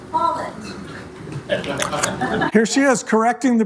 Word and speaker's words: Follett: His name is pronounced Follett.